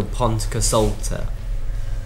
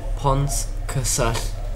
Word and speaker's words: Pontcysyllte: So instead, it'd be much easier to say L, so Pontcysyllte.